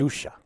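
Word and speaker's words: Dousa: Dusha.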